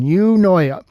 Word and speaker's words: Eunoia: Don't worry, I looked up on Google how to pronounce that. That is the correct pronunciation, Eunoia. Console's pitch.